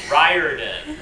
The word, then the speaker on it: Riordan: Riordan. Riordan. Sort of rhymes with fireman. Sort of. I know a lot of people with that name say Riordan. My branch of the family says Riordan.